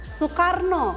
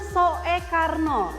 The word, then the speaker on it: Soekarno: Yang semua orang kenal Bapak Proklamator kita Soekarno. Soekarno tapi namanya Soe Karno. Heeh. pakainya o ee tapi dibacanya U.